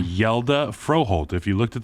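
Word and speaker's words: Hjalte: some help from Reed and Matt on the pronunciation yelda froholt if you looked at the way it was spelled I think it's h-j-a-l-t-e which is like hejalty and then they're like nah it's yelda bro say that Copenhagen that's where that's coopenhagen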